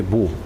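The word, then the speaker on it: mho: 이게 ohm, 이게 모. 요게 이렇게 읽으면은 옴, 이렇게 읽으면은 모. 그래서 뭐라고 있는 거 거꾸로.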